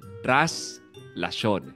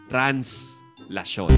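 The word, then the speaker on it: Traslación: tuwing January 9 ay translasyon tras lason hindi translasyon so common mispronunciation yan Kino commemorate dito ang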